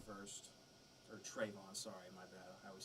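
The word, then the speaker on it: Travon: over our drafts so far um i had tavon first or trayvon sorry my bad i always say his name wrong i had walker he fits detroit he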